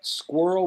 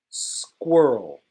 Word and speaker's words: squirrel: Okay, so next we have squirrel, which is number 31. Let me show the spelling. 31. Squirrel. Squirrel. It sounds like girl.